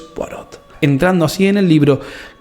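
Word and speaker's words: Poirot: hombre al que llaman Porrot, que no tardamos en darnos cuenta de que lo pronuncian mal y que es Hércules Porot, entrando así en el libro y aplicando el orden y el método a este.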